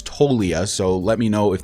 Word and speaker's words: Toglia: him there's Michael toia I thought it was pronounced toglia but I've learned that it's toia so let me know